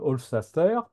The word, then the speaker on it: Hofstadter: Et puis un bouquin un peu plus philosophe que vous voyez ici apparaître, Hofstadter. J'ai toujours du mal à prononcer son nom. C'est Stater à la fin.